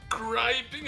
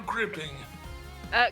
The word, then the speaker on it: griping: Is it griping or gripping? Griping. Griping. So I did say it right. Good. Yeah, if it was gripping, it would be 2 P's.